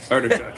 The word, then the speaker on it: Artichuk: Artichuk.